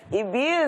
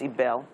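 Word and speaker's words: Ibelle: Chef Ibil is here. How you doing? I'm doing well. Good morning, I keep calling you Ibil, but I know it's Ibel.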